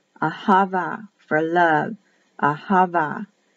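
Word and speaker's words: אהבה: h ahava for love ahava is the pronunciation that'll be written with a b but pronounced as a v that's the tricky one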